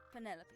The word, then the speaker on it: Penelope: penelope officially yes but i never can be bothered with all four syllables of it penelope sounds a little ostentatious